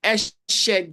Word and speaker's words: Eshe: Is it Eshe Games or Eshe? Eshe. Esse. Okay, it's going to correct us with pronunciations. And that's Faithful, right? Yes. Hello, Faithful, are you there? Yes, everybody. Good evening. It's actually Essay Games.